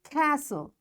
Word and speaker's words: castle: words are listen fasten castle orphan whistle soften hasten bustle and gourmet in all these words letter t is silent so in this way